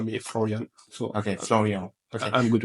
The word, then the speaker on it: Florian: Flor Flor Flor I mean everyone call me floran so okay Flor I'm good with this I'll